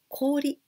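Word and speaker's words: 氷: after this and this with only only this kanji we pronounce kori kori ice but here kakigori this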